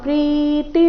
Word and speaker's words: ಪ್ರೀತಿ: ಭ ಮಹಾಪ್ರಾಣ ರಸ್ವ ಭಜತಾಂ ಪ್ರೀತಿ ಪೂರ್ವಕಂ ಪ್ರೀತಿ ಪ್ರೀ ದೀರ್ಘ ಪೂರ್ವಕಂ ಪು ದೀರ್ಘ ಭಜತಾಂ ಪ್ರೀತಿ ಪೂರ್ವಕಂ ದಾಮಿ